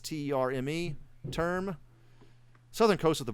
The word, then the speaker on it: Terme: I need to look up the pronunciation on that. It's Terme.